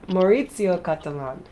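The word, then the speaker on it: Maurizio Cattelan: I was missing a few syllables there. Maurizio Catalan.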